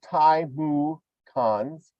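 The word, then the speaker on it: Timucuans: The Timucans assent on the second syllable of the Timucans, there they go, were conquered by the Spaniards, offering little resistance.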